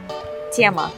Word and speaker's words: тема: Тема.